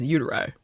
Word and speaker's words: uteri: It says, but the pronunciation it's given us is uteri.